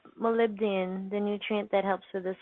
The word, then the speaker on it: molybdenum: mo ly dden um it looks like Molly be diem that is pronounced molybdenum and it sounded beans